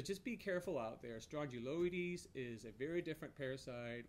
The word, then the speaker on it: Strongyloides: confusing that it's called Strongyloides it almost sounds like it's a strong jaw parasite it rhymes with it the first syllables of that word is identical but it's not a